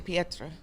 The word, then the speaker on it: Petra: you're pretty pretty like he did say my name is Peter but it's actually Petra see I know he